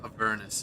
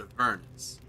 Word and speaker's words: Avernus: I think Avernus is technically the canonical way. But yeah, because, yeah, it's like a furnace, but Avernus.